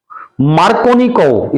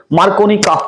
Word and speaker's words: Markovnikov: है, occur according to मार्कोनिकोव, spelling बोलूंगा मैं MARKOVNIKOV, मार्कोनिकोव रूल, मार्कोनिकॉफ का नियम भी कह देते हैं, मार्कोनिकोव रूल लिख लिया आपने।